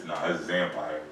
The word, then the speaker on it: XXANPIREZ: It's XXANPIREZ. XXANPIREZ. So instead of like vampires.